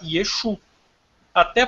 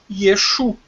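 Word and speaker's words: ישו: Até porque, desde sempre, os judeus chamaram Cristo de Yeshu. E não é Yeshua. Escreve Yeshua. Mas não sei porque lá no alfabeto deles eles pronunciam Yeshu. Pronto. Yeshu e pronto.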